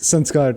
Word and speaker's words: Sanskar: science right sansa i i keep pronouncing it as sanskrit it's sanska right it's sanskar technically okay but like the nickname is like sans okay because every time